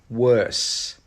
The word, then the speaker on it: worse: Worse, worse. When you pronounce this one, your tongue should go down to the bottom of your mouth at the end.